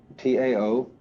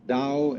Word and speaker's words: Tao: T AO pronounced dao in the Mandarin dialect, tao in the Shanghai dialect, toe in the Cantonese dialect.